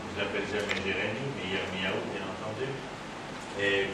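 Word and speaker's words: ירמיהו: Je l'appelle jamais Jérémie, mais Yirmiyahu, bien entendu. Et comme l'ensemble des prénoms en hébreu, ils doivent être prononcés en hébreu. C'est comme Juan pour Juan, ça ferait malvenu. Donc c'est Juan, c'est Yirmiyahu, en dehors du fait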